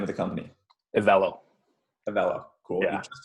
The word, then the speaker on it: EVELO: And how do I pronounce the name of the company? EVELO.